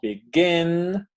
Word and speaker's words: begin: Y la otra forma es, pues, con el tiempo, vamos a ir ubicando que esto se pronuncia begin, forget. Ajá. Suenan fuerte el gin, get.